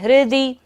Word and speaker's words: हृदि: आक्रामतिक क्रमयुगेन निरस्त शंक त्वनाम नागदमनि हृदि, हृदि री की तरह पढ़ना है, हृदि यस्य पुंसः, पुंसः स के ऊपर विसर्ग है, सारी सांस का विसर्जन करेंगे।